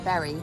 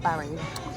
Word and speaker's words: Bury: It is pronounced Berry, not Barry.